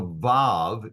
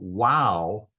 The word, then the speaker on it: vav: name, the third consonant, which I referred to as a vav and is pronounced as a V sound, was actually called wow and was pronounced as a W in the biblical era, in antiquity.